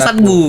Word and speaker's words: Set Boy: Bacanya Satbu. Memang tulisannya Set Boy gitu. Tapi dibaca Satbu.